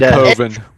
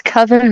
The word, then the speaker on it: coven: because of American movie is it koven or coven I can't remember koven coven same thing let's with koven it's coven but yeah I definitely think